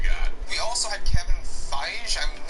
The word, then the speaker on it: Feige: who else you got we also had kevin feige i'm not quite sure how to pronounce his name oh my god it's feige